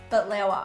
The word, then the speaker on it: baklawa: And she's going to be showing us how to make her family's traditional Christmas treat, Baklawa. Did I say it correctly? Baklawa, which is actually a recipe that I grew